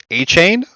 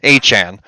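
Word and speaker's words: Achane: starting guys like Zach moss and uh Devon a chain what's his what how do you pronounce his name and Han like listen it's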